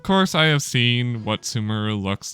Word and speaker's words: Sumeru: It's Sumeru. I don't like how she pronounces it at all.